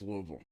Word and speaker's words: Louisville: I always called it Louisville before I moved here no you're stupid it's okay it's loal you're all wrong it's just like it's